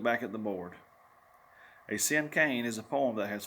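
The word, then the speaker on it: cinquain: have heard me quickly this word is pronounced like the word sin and cane sin cane they crossed her arms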